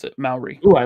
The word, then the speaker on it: Maori: Maori. Okay. Thank you. That's how you pronounce it, Maori.